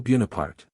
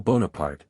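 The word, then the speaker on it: Bonaparte: man lady amazed you General bipart Italian pronunciation Napoleon yes I General bonapart emphasizing the French pronunciation lady oh how can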